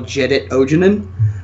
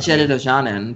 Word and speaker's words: Jedit Ojanen: actually run the original jedit ojanen um is that how you that's how I pronounce it well I always said Jed do Janan but that's me fancy pants wow in any